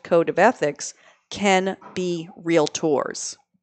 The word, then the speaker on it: Realtor: the extra mile no it's not real a tour it's real tour but obviously a lot of people say it the other way to the term agency